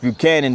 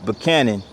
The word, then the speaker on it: Buchanan: Now, James Buchanan his name is pronounced Buchanan, but uh the town itself, the locals pronounce it Buchanan.